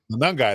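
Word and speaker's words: Monangai: Manungai. There you go. I only know because I Googled pronunciation.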